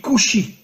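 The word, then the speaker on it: כושי: En hébreu, le mot noir se dit kushi. Alors bien sûr, vous ne connaissez pas l'hébreu, mais faites-moi confiance. Le mot kushi s'écrit en hébreu kaf vav shin yud. Kaf vav, vous savez qu'en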